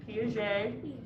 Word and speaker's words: Piaget: talk about piaget um that is how you say his name piaget um he's cool if